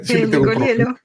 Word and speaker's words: Nicoliello: A ver si lo has dicho bien, que si te nicolielo. Sí, Nicolielo. Lo has dicho bien, pero porque la última vez que que que te entrevisté no había manera de pronunciar debidamente eh tu apellido.